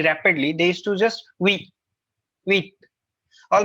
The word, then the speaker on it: oui: her it's not wait it's not being you pronounces at oui it's not we it's wrong it's we how we english what are we all right now we